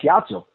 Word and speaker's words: Ciatso: I said, my real name in Italian is pronounced Ciatso. He goes, and he put his hands up in the air like an Italian. He's like, Ciatso.